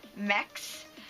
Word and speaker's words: Mx: Now, I've seen some debate over if mix is pronounced mix or mex, but basically mix is MX, and you use it the way you would use Mr.